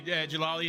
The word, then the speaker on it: Jalali: Yeah, it's exactly, Jalali is how you say it in French Canadian.